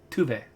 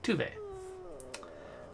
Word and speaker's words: Tove: empathetic and compassionate but i keep calling your tove he's clearly pronouncing it touve so i should be saying tuve ugh i must have